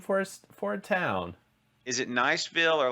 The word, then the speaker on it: Niceville: Okay, so Danny says just north of Destin, and it's pronounced Niceville.